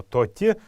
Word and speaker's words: тати: был полноценный звук и поэтому ударение будет падать именно на последний слог то те правильно произнести это слово давайте еще раз повторим его тати тати тати это попугай